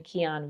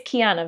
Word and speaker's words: Kiana: In our previous video, I kept saying Keon Vibes, but no, it's Kiana Vibes, okay?